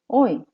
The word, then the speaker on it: hoy: 오늘, hoy. hoy. H는 소리가 나지 않아요.